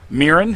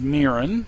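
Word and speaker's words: Mirran: Mirren, his oldest daughter, is very emotional, and she has been deemed unfit to rule all the giants.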